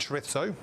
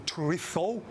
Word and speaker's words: chorizo: I love red onion and chorizo. Your chorizo, if you're going to say it correctly.